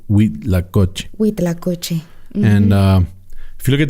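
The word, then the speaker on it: huitlacoche: people that's spelled with an h-u-i-t-l-a-c-o-c-h-e and it's pronounced we lacocci and if you look at the pictures it's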